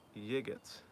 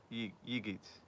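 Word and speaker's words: Yiğit: in the US uh his name is yigit and it sounds like yeet yigit yigit yeet oh very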